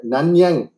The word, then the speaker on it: Nanyang: you got a 100% scholarship Nish to the nanyang Technological University Singapore if I'm pronouncing it right isn't it yes yeah I